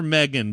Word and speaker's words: M3GAN: release methan methan yeah I think it's pronounced they call her Megan but it's spelled M3 Gan yeah uh the uh